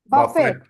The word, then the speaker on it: buffet: Buffet. T silent. பஃபே சார். Buffet.